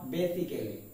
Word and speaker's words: basically: Then the third one is BASICALLY. আমরা এর উচ্চারণ করে থাকি বেসিক্যালি, কিন্তু এর প্রপার উচ্চারণটা হবে বেসিকলি। That means the pronunciation is basically, not basically.